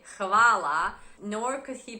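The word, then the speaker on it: hvala: as you can see the H is pronounced in the Croatian language it's ha ha huh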